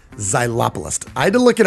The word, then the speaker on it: xylopolist: what is a xylopolist well how do you spell it it's x y l o p o l i s t zylopolis i had to look it up xylopolist is